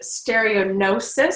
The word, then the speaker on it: stereognosis: For discriminative sensations, you could test stereognosis. So the G is silent.